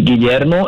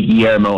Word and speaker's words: Guillermo: want to learn uh in spanish is guillermo in english people just say guillermo and it's like that's good enough okay so my english version